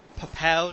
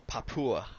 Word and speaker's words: Papua: the way from uh papao new guinea is that how it's pronounced uh yeah papa oh papua all right yeah sweet